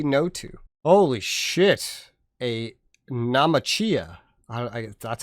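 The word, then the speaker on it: Naumachia: A Namachia.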